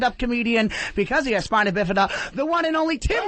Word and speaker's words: spina bifida: I was born with spina bifida. A lot of people don't know what that is. It's pronounced spina bifida.